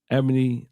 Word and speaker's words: Ebony: I think her name is pronounced like Rebony. All right. Ebony, like Dr. Ebony.